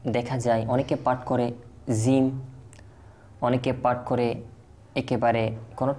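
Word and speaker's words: جيم: জিম যে মাখরাজ রয়েছে, জিমের যে বাহির হওয়ার উচ্চারণের স্থান রয়েছে তা হচ্ছে জিহ্বার মধ্যভাগ ও তালুর মধ্যভাগ। অর্থাৎ জিহ্বার মধ্যভাগ এবং তালুর মধ্যভাগ থেকে এই জিম উচ্চারিত হয়।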